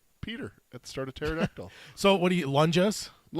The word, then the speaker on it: pterodactyl: Punjas are the size of pterodactyls. Billy Bumblers fearlessly attack them without fail. Dude, I hope it's a lunja and the P is silent like pterodactyl.